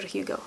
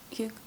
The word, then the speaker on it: Hugo: that is Les Misérables by Victor Hugo, or Victor Hugo. I feel like the French don't pronounce the H.